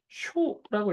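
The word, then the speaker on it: しょ: 쓰다라는 뜻으로는 동사 자 발음을 쇼라고 읽어야 돼요 쇼 포인트는 짧게 발음해야 된다는 거고요 절대 쇼라고 길게 발음하시면 면 안 됩니다 그래서 이거는 문서라는 의미죠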